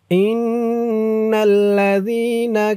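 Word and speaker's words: إِنَّ الَّذِينَ: জরের পরে ইয়া সাকিন আর উচ্চারণটা নরম হবে ইন্নাললাজ না ইন্নাল্লাজিনা কাফারু কাফা রু রু এক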